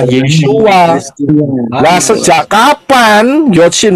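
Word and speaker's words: ישוע: Karena yod, shin, waw, ayin itu bacanya, pronounce-nya, pengucapannya adalah Yeshua.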